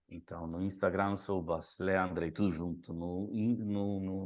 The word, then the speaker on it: Andrej: Me acham como Andrei é o contrário primeiro sobrenome lembrem-se Andrei escreve com J e pronuncia como I né não é Andre é Andrei então no Instagram sou Andrei tudo junto no no